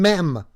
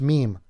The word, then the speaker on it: meme: mems about his saying meem it's reigning meem crazy Josh how could you go through your life not knowing how to pronounce meme how how Josh godamn